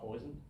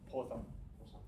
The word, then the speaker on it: Poisson: We just call it poison? Based on what I learned, it's called Poisson. Yeah. I'll get it. It's not poison.